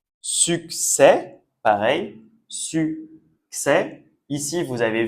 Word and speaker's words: succès: On dit pas success, pas comme en anglais. Ici c'est succès et le dernier vous avez vu, on a l'accent aigu qu'on a revu dans la vidéo précédente.